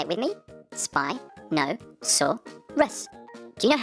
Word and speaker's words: Spinosaurus: learn all about spinosaurus how do you say that again spy no saw russ can you say it with me spy no saw russ do you know how